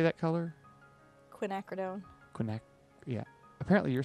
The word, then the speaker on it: Quinacridone: Quinacridone.